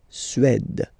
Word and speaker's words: Suède: Suède. Remember, accent grave, it's really open. Suède. Suède.